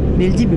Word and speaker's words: Бельдиби: Бельдибе, потому что, скорее всего, по-турецки обычно на последний звук ударения идет.